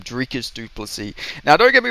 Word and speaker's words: Dricus Du Plessis: to be Champion now drus sorry I got to I got to get it I got to get pronouncing his name properly I got to start remembering the future Champs Nam drias dupy now don't get me